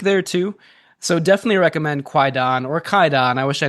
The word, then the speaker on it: Kwaidan: Have I talked about Kwaidan, or I think it's actually pronounced Kaidan, the Japanese horror movie?